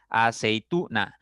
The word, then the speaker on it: aceituna: Aceituna, aceituna. La mayor fuerza está en la sílaba tú.